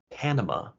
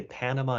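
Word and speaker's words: Panamá: So, for example, when we pronounce the name of Panama in English, even though the word has A's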